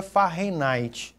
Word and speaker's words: Fahrenheit: Você pode falar Fahrenheit ou pode falar Fahrenheit. A pronúncia correta seria Fahrenheit, tá? Por conta do nome do físico que fez, Fahrenheit.